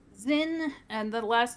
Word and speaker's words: Zyn: Zin, and the last name is Vielin, Vielyn. Zin ZYN Vienlin. is the first name. Yeah. Zin.